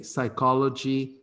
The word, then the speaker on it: psychology: lesson is called the psychology observe that the psy we pronounce psy so we say psychology we say psychiatrist okay psy psy not see no psy the psychology of narcissism